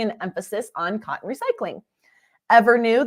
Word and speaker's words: EVRNU: Evernew, that's spelled EVRNU, is a Seattle-based advanced